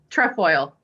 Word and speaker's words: Trefoil: Trefoil.